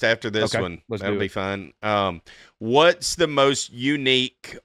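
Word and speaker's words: pho: I used to say faux and then I heard it was fu.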